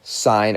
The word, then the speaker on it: sine: sine of angle a we just write sin a sine of a is how we pronounce that we use the acronym